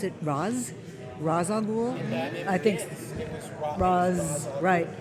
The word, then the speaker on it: Ra's al Ghul: So this was Ra's al Ghul, Ra's al Ghul, Ra's al Ghul, and we just made a decision.